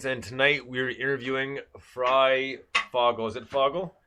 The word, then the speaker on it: Fryfogle: F oh my name yes my name is fry Fogle we're the doctor is having some problems like most people do pronouncing it uh Frugal actually means Free Bird